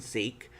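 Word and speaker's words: Sikh: into a punjabi sec sec is the proper way of pronounce and seek household and i like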